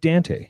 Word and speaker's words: Dante: about that thing with Dante you know you ask any Australian owner of audinate how to pronounce it and it's Dan T so that's that's very